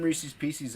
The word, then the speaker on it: Reese's Pieces: toxic I have some Reese's Pieces out out there that can get them dude why do you say it PCS like feces Reese's Pieces